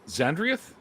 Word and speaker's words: Xandrieth: But for now, anyways, we've got now, is it Xandrieth? Is that how it's pronounced?